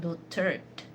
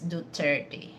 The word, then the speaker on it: Duterte: So same thing with you know former president his last name is not Dutert it's Duterte okay and any of us